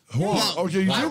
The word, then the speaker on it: Hwang: Hwang. Hwang. Okay, you do pronounce it.